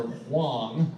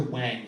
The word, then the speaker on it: Huang: i'm just like i'm here to see dr wayne he's gonna get you to give me right i'm guessing they had heard this before because much to my chagrin come to find out it's actually pronounced dr huang yeah the receptionist was not pleased she was